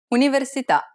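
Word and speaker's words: università: stress for this word universita the accent is on the vowel at the end of the word so the answer is the last syllable how about this one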